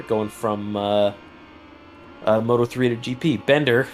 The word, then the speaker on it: Binder: Yeah, our very own Hades has a published article about Binder going from Moto3 to GP. Bender, sorry, I just got corrected. You need to pronounce it completely correctly.